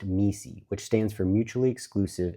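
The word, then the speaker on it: MECE: This is what the consulting firm McKenzie calls me, pronounced MI, which stands for mutually exclusive and collectively exhaustive.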